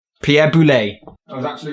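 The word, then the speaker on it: Boulle: I'm gonna guess Pierre boulay Pierre boulet I was actually wrong one pronunciation okay so apparently it's not bully because I was adding too much French but we've already established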